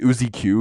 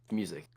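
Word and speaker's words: µ-Ziq: pronounce it uq because it's like the Greek sign for Mew and then Z music that's how you say I thought I I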